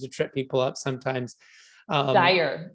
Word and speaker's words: Dyer: And it's funny, there's a street in my county that people know is Dyer Road. And yet when they come and ask me my name, they always say Dyer. They say it wrong, even though they say the street name right.